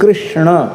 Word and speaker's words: कृष्ण: कोई किस किस कहते, कोई कैस कैस कहते, हरे कैस कैस कैस हरे हरे। कृष्ण नहीं बोल पा रहे थे बेचारे गांव के लोग। अभी भी एकदम शुद्ध कृष्ण शब्द का उच्चारण लोग नहीं कर पाते। कृष्ण ये शुद्ध उच्चारण है, पर इतना सावधानी